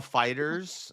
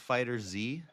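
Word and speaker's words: FighterZ: When people say Dragon Ball Fighter Z, let's play Fighter Z, they're actually saying it wrong. The game is called Fighters.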